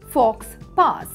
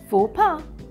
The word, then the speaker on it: faux pas: word used in English don't say fox pass yes fopa yaniganot social behavior talking on